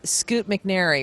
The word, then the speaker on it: Scoot McNairy: And Scoot McNairy, right? Did I pronounce that right?